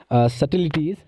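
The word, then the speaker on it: subtleties: Who capture the complex सटिलिटीज़, तो यहाँ से बी साइलेंट रहता है।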